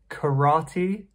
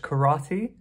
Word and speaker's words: karate: And there's many related to sports and martial arts like karate. We say in English karate. Karate, although it's a little bit different than how it's pronounced in Japanese.